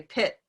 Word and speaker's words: pit: For me, I say this T in the same way, pit, pit. So there's something that's affecting this because it's at the end of a syllable.